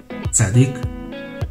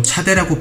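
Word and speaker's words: צדי: 짜딕, 짜딕, 짜딕, 짜딕. 이 발음은 항상 한국어의 쌍지읒 발음을 냅니다. 지읒이나 치읒 발음으로 차대라고 표기하는 경우도 많지만 현지에서는 절대 존재하지 않는 발음입니다.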